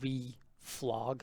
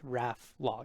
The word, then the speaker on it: reflog: learned about it years ago i thought it's pronounced re flog but no it's raf log it's reference lock you can look into it